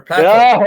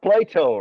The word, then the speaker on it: Plato: it's not Plato right it's not Plato it's Plateau right and Plateau as you can notice by The Sound by the pronunciation of this word uh it comes from French it's a fren French word that was assimilated that was imported and uh it became official in English language right so it's a